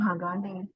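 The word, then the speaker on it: 鋼: Cara bacanya berarti tadi ini yang Hagane, gitu.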